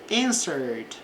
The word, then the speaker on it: answered: She answered, aqui não pronuncia o E, answered the question correctly.